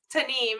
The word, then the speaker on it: Tanimu: And it's Tanim. Did I get that right? Okay. Tanem is is how it's pronounced.